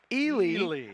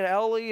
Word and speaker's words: Ely: quentin mcrae now chris i did want to correct myself i incorrectly pronounced the name of the senior standout wide receiver drew ely ice keeps saying ellie and one way to